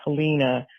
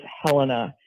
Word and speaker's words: Helena: The capital, which some people pronounce Helina, but it is Helena here in Montana.